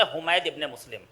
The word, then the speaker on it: حمید ابن مسلم: حمید ابن مسلم اس کا بندہ ہے جسے ہم کہتے ہیں حمید ابن مسلم، صحیح تلفظ ہے حمید ابن مسلم.